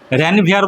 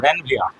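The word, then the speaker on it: Ranvier: তো notes of র্যানভিয়া, notes, এনওডি, notes of র্যানভিয়ার বলবি না কিন্তু, র্যানভিয়া। এখানে আটটা উচ্চারণ হবে না, না বৃষ্টি আসতে দে, ঠিক আছে, ঠিক আছে।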